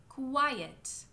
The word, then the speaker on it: quiet: It's two sounds. It's the sound k and the sound u. Like in the words queen, quit, quiet.